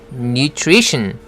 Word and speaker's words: nutrition: 그리고 또 한 가지 tion으로 끝나는 단어는 tion을 션으로 발음하고 스트레스는 tion 바로 앞에다 두지요. 여기서는 tree 할 때 re 부분에 강하게 스트레스가 들어갑니다. 그래서 발음이 nutrition 하게 되는 거죠.